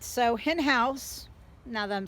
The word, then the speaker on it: Henhaus: these are very very nice all right so in house now that i'm saying it correctly i apologize